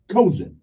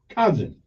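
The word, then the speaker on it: cozen: actions or by trickery kozin cousin everyone pronounce it c-o-z-e-n that politician they do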